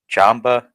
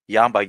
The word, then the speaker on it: Jamba: it's Jamba Juice, not Yamba Juice.